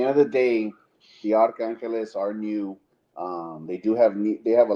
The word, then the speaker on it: Arcángeles: Arcángeles. Arcángeles.